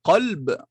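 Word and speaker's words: قلب: par un gentil prénom, attention à bien prononcer et bien faire la distinction entre ces deux lettres. Tu as envie de l'appeler mon cœur. En arabe, mon cœur, le cœur c'est qalb avec un qaf.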